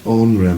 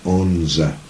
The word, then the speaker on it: onra: Now this onra, meaning a petticoat, is sometimes pronounced onza.